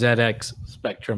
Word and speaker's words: ZX Spectrum: I can tell you it has to be pronounced ZX spectrum as many UK people have let me know in my youtube comments I see ok thank